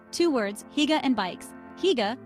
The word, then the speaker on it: hygge: Hygge, pronounced huga, is all about coziness and togetherness.